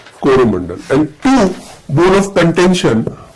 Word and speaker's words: Coromandel: Originally Cholamandal. The European mispronounced and became Coromandel.